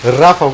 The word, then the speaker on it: Rafał: Actually, out of curiosity, like, how is his name actually pronounced with a Polish accent? His name or his nickname? His name. Well, I guess both. That is his name, I mean, just without the H. Rafał is a name, but Yeah, Raffle.